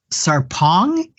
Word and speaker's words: Sarpong: so I'm speaking with and sarpong is that the right right pronunciation yes um who lives in